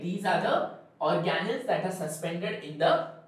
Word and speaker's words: organelles: about cell organelles cell organelles first get the pronunciation right it is not organelles it is not organelles it is organelles right o r g a n e double